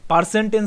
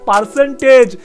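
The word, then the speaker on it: percentage: একটা কথা বলেছিল যে পারসেন্টেজ নিচ্ছে না বা পারসেন্টেন্স নিচ্ছিল না। আবে গাওয়ার ওটা পারসেন্টেজ। আগে ঠিক করে উচ্চারণ করতেছে।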